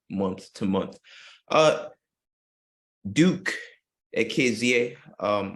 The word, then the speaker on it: Ekezie: to month uh Duke akza um I hope I said that um yeah you actually you pronounced it well it was thousand dollars